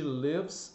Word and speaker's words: live: She lives in LA. Olha só, where do you live? She lives in LA. Então observe que o som do I é sempre E.